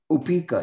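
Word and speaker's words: upekkhā: Equanimity, Upeka? Yeah, yes. Oh, she's speaking in Sanskrit. Upeka, yeah.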